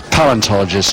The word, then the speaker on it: paleontologist: I'm told it's paleontologist, not, I put an extra syllable in there.